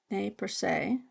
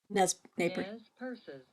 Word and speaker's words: Nez Perce: Nez Perce. Purse. Okay. But they also say Nez Purses. Nez Purses. Nez Purse. Nez Purse.